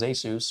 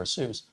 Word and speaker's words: ASUS: company as reputable as Asus or Asus um or Asus depending on how you say it usually all of that's